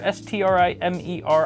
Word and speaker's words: Strimer: And they're calling it the Strimmer, S-T-R-I-M-E-R. I feel like there should be 2 M's in that word if it's pronounced Strimmer. Strimer? Strimer just doesn't roll off the tongue.